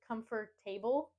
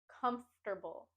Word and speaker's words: comfortable: word is comfortable comfortable I sometimes hear people say comfortable and put the stress and emphasis on the last two syllables saying table but instead we want to put the emphasis and stress on the first syllable P comfortable com comfortable think of it as a three syllable word comforable comforable comfortable comfortable